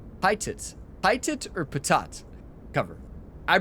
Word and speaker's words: pitot: Patat. Pitot.